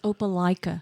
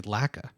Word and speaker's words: Opelika: Thank you, because I've heard a lot of people say Laka. Opelika.